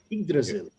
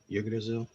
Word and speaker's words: Yggdrasil: That whole tribes of, how do you pronounce that? Yggdrasil. Yggdrasil.